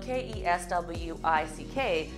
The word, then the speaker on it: Keswick: So Keswick is spelled K-E-S-W-I-C-K, but it said Keswick.